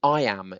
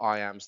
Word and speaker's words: iamb: Well, you need to know what an iamb is, I-A-M-B.